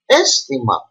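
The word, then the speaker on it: αίσθημα: As you see, over here there is alpha iota and is pronounced aisthema, not aisthema, but aisthema. And you see there is the tonos at the iota, not at the alpha.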